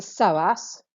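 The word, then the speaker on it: psoas: another hip flexor is the soas silent p key got soas major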